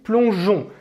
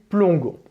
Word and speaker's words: plongeons: Pour garantir le son J à l'oral, il faut écrire un E après la lettre G. Nous plongeons. Sinon, si on oublie ce E, à l'oral, on va prononcer nous plongons.